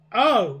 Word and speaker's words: eaux: You pronounce it O, and you type it O.